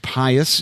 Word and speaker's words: pious: Please bow your heads and have the most pious of you read the following." Is that how you pronounce that? Pious? Yes. Yes.